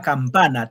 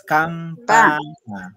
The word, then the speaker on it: campana: Y la última, campana, tres sílabas, campana. En pa. En pa.